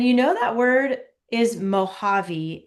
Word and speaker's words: Mojave: And you know that word is Mojave. It's like a H sound, even though it's a J. That's Yeah. because it is a Native American word, Mojave.